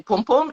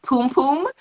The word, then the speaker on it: pom-pom: a lot of times when i hear americans say pom-pom it sounds like poom poom and i'm like